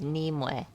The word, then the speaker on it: Nimue: So technically speaking, the way to correctly pronounce it is Nimue. Nimue. Yeah. That's Okay. the apparent correct pronunciation.